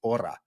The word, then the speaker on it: hora: their word for it, even though there is an H in there. It's hora.